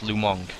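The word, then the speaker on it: Lu Meng: oh fight Lou Lou Meng is pronounced lumong even though it's m-e-n-g I don't know there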